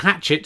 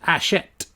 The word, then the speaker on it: Hachette: Oh, I found out Hatchet is pronounced Hachette.